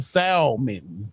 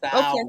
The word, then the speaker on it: salmon: With the L, salmon. Salmon. Okay. How do you say it? Salmon. Why you add extra vowels in there?